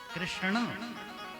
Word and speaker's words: कृष्ण: में यम गणना नाम नासिका इन शब्दों का उच्चारण नासिका से होना चाहिए तो कृष्ण कृष्ण ऐसा होगा नाम भी टेढ़ा कृष्ण भगवान रहते